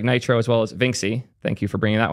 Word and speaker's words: Vinxi: It's Vinci. Cool. It's spelled Vinxi, so it's called Vinxi now.